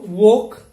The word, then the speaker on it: walk: the last world similarly we do not pronounce this l as it comes before letter k okay so walk talk chalk but when it comes